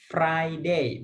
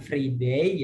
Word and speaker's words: Friday: Friday, bukan free day ya. FRII itu free ya, gratis, itu free.